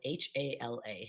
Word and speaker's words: Hala: hala um that the first name is spelled h-a-l-a hala as in hallelujah so hallelujah i'm so